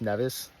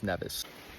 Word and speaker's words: Nevis: I did learn was it's got to be pronounced nevas I've asked a bunch of catian at this point and seems like the corm is nevas okay so a few things before I get